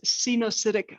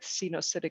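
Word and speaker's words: coenocytic: pass through all right the second type is xenocidic hyphae so you pronounce it like this scene oh acidic acidic uh hyphae um so that's like one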